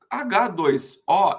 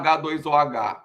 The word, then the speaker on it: H2OH: H2O é a fórmula da água. Mas ninguém fala H2OH. Fala só H2O, porque o H afinal é mudo.